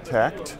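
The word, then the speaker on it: Takt: Joining me right now is Bharat Krish, CEO of a new company called TACT, which is spelled T-A-K-T, formerly of HBO.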